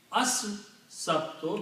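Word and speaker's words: السبت: Al will change is as-sabtu because Sin has an effect on lam, being Shamsi letter. It kills the sound of lam and adds its own sound.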